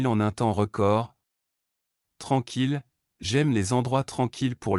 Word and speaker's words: tranquille: Tranquille, j'aime les endroits tranquilles pour lire.